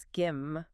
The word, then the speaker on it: SCIM: Including that SCIM thing, SCIM, pronounced skim, which sounds pretty powerful.